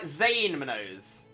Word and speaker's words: Zynmanos: Zane, so like more like Zynmanos. Zynmanos. However, I did notice shiny Slowpoke. Good eyes there, Raph. Good eyes. Good spot. Zynmanos. Perfect. Thank you very much, Erin. I'm useless at pronouncing. I'm going to put an extra little note on there so I know how to pronounce it as well. Like saying Zane.